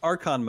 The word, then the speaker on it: Archon: Let's move on to Archon modes. And I guess, first of all, am I pronouncing that correctly?